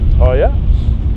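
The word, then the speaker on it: Haier: Also, I'd like to talk about our sponsor, Hiya. I can see they've put a pronunciation down here for me, but Hiya is what I'd say.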